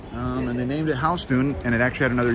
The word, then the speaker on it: Houston: after a guy who's actually last name was house tune house tune he was a southern dude who actually came